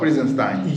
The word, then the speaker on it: Prinzenstein: Viewers, make sure you come to Fort Prinzenstein. Is that how you pronounce it? Exactly, Fort Prinzenstein.